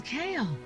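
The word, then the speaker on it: Cahill: My last name is spelled C-A-H-I-L-L, but it's pronounced kale, like the vegetable.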